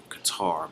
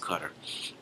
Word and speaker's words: Qatar: And this particular country I'm talking about is actually Qatar, but it's pronounced Qatar.